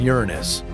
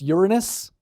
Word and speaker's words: Uranus: we mention Uranus yeah it's actually pronounced Uranus okay go ahead say